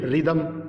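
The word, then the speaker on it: rhythm: आगे है रिदम, यहाँ पे TH को थ न पढ़ के इसको द पढ़ेंगे और S साइलेंट है तो रिदम।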